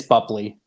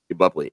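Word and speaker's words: Boepple: sure you can correct me on how to pronounce that it's it's buley buley and if you guys know she played Amanda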